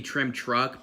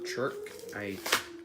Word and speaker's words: Trim TRK: It's supposed to be Trim Truck, but it's Trim TRK. Or Chirk, if you want to pronounce it.